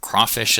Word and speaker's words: crawfish: Um crawfish is one of those uh kind of odd words that has about equal stress between the two halves. That thing is called a spondee.